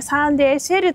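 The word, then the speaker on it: サンデーシェル: SL と書いてね、サンデーシェルとね読ませるそうです。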